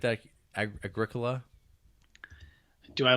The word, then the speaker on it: Agricola: You like that Agricola? Do I like the Agricola? That's a game. Agricola? Agricola. It's spelled like Agricola.